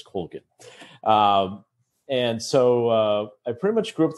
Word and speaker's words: Colgin: Now, the Irish pronunciation is Colgin, but we've always pronounced it as Colgin.